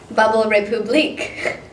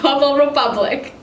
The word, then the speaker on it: Bubble Republic: last but not least bubble of Republik just kidding it's pronounced bubble republic I've never actually had